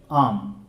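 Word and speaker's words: alms: देखिए question number 40 देखिए आर्म आर्म is given to the beggar. वैसे जब एल एम आता है तो एल को हम लोग नहीं पढ़ते हैं। तो एल साइलेंट हो जाता है।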